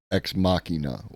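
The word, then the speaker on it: Ex Machina: Technology yeah exmachina um at least my understanding is that it's because it comes from DSX makina um and I've always heard her pronounce exmachina like like that if I'm wrong I'm wrong but that's my understanding and then there's AI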